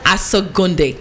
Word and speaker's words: Asogonnde: So the name is, you're going to help me pronounce the last name. Asogonnde.